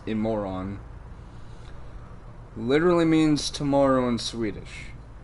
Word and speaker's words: Imorgon: This car's name, Imorgon, or Imoron. No, I'm not calling anyone a moron. That's literally how it's pronounced in Swedish, is Imoron.